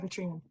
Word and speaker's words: Eritrean: Eritrean.